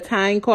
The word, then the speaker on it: Tineco: So I watched the video, and it's actually the Tineco.